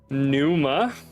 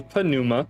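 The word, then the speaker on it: πνεῦμα: thing okay next word Numa has nothing to do with the Numa thorax and it's actually panuma because the p is pronounced P Numa and this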